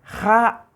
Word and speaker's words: ja: Y la palabra casa, por ejemplo, la palabra casa, se pronuncia entonces ja, Ja es doble A, para diferenciar entre la A simple y la A prolongada. Se prolonga el sonido de la letra A.